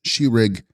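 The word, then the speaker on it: Sherig: Text, Shesrig, pronounced Shirig, is the intellect, the knowing or cognizing faculty.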